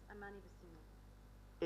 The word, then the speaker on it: Amani Bassiouni: Did I pronounce that correctly? Yes, Amani Bassiouni.